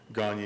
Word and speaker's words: Gagne: name my name is Gagne it was properly pronounced I don't use it that way but it was properly